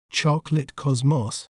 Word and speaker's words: chocolate cosmos: In British accent, we may pronounce it as chocolate cosmos, chocolate cosmos, choc, lit, cos, moss, chocolate cosmos. In American accent, we may pronounce it as chocolate cosmos, chocolate cosmos, char, clit, cos, mos, chocolate cosmos.